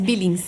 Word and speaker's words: Billings: É essa a pronúncia, né? Isso, Billings.